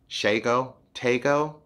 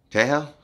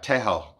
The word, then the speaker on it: Tshego: Like this guy who you see, I'll say his name is Shago Tago. Like that, but I didn't want to say it wrong, and I ended up listening to this girl how she said his name. So she said it, and I tried to repeat it, and I sounded dumb. So I guess this is how you say it. What's up, Tim? How are you? Tejo, Tejo, Tejo.